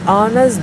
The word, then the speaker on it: honest: Here, are an honest boy is pronounced as ah sound.